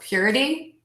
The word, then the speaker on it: purity: way to practice so we want to make sure that middle syllable is super duper short the shortest syllable in the word and syllable number one will be the longest syllable in the word so we have purrr Cuddy Quoddy of a deep so purity quality cavity give those a try